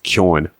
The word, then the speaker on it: Keoghan: He's even started pronouncing his own name wrong. It's Keoghan. We're Irish.